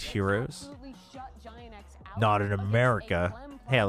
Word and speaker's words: gyros: out to me on split is crew pronounced heroes giant in America. Hey, at least I didn't say gyros.